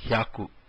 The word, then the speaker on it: hyaku: After q, ju, q, we have hyaku. Hyaku is 100. Hya is a single syllable. Ku is the second syllable. Hyaku is the word.